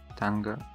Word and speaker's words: tongue: Tongue, or whatever. Tongue. Yeah, there's no ending vowel. The E is silent.